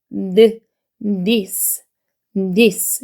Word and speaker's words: this: 밀어 주셔야 돼요 그다음에는 돼지꼬리 발음이에요 돼지꼬리 발음이라서 디는 제주거리 발음이라 아리니 위니 사이에 혀를 내밀고 드 this this 이렇게 발음이 되는 거고요 그다 얘는 CY